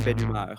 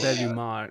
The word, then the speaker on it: Belhumeur: in French I would say Julien Belhumeur. So Belhumeur. Oh, Alexander, thank Belhumeur. you so much. But yeah, Belhumeur. it basically means like good humor.